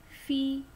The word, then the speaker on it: fille: Il y a une fille, une ya. Jadi u-nya itu mulutnya u tapi keluarnya i seperti yang tadi ya. Il y a une fille ya. Kalau l-nya 2 itu dibacanya jadi y, fille ya.